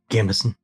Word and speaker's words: gambeson: But they do have some like, okay, and here's where the DM doesn't actually know whether it's Gambison or Gambison. Gambison. Gambison, thank you.